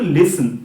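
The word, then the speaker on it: listen: লিসেন কিন্তু নয় লিসেন এইটিটা কিন্তু এখানে সাইলেন্ট হিসেবে কাজ করবে সাইলেন্ট লেটার এইটিটা কোন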